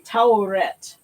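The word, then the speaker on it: Taweret: I'm thinking it would have been Ta'uret, because that symbol can also, like in Arabic, it can also be an O. So I'm thinking Ta'uret. That's probably how they put it together. And that's why I pronounce it.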